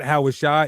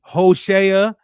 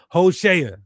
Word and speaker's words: Hoshea: So, it's not Howashai, it's Hoshea in the Hebrew. That's how you say Hosea in the Hebrew. Hoshea.